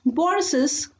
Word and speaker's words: Boris's: While we are pronouncing Boris's, we are pronouncing that S.